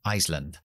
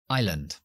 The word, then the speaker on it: island: ejemplo en Isla que decimos I long no Island Island Ok la t la famosa t Si eso es su pronunciación el abecedario pero nosotros podemos pronunciarlo de